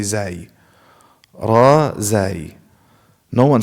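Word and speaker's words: زاي: But za, no, I don't know about this one. No one says za. They all say zai.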